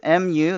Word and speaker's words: mu: how to read them okay this greek letter is spelled as m u that's mu this greek letter right here is